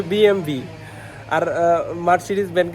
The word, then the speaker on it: BMW: এটা আর এরা এদের সামনে bmw কথাটা উচ্চারণ করলে এরা হাসে এরা বলে হচ্ছে বিএমভি লো bmw এটা হচ্ছে বিএমভি আর মার্সিডিes ব্যান্ড কে